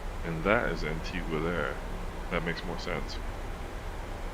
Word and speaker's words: Antigua: I keep hitting that but okay Barbuda is pronounced as Antiga bayuda Barbuda ah Barbuda okay Barbuda that does